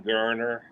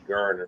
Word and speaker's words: Geriner: Probably Holden Geriner. And you pronounce it Geriner. It's Geriner, people mess it up.